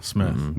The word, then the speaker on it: Smyth: And her last name is spelled Smith, Smyth. It's not Smythe, huh? Smith. Smith.